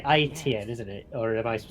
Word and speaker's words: AEtienne: Yeah, you pronounce it correctly. IEtienne, AEtienne, or anything you. AEtienne. I got every single pronunciations, but. Yeah, it's nearly the same thing in French, so no problem.